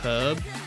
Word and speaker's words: herb: Did you say herb or do you say it like herb? Herb, I pronounced the H. I'm pretty sure it's only Americans that don't pronounce the H in herb. They say herb, right? I think, like, literally everywhere else in the world, like, says herb.